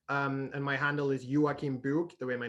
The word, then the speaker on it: Joakim Book: and my handle is yuakimbuk the way my name is spelled j-o-a-k-i-m-b-o-k book like like a book you would read um i also gather